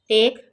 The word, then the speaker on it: take: टेक, TAKE, टेक, टेक में ई silent है।